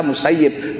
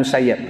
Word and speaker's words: Musayyib: shine kini brainlyl musayyib ya bacanya kategori kita musayyib bukan musayyab syair Ibnul musayyib Pulau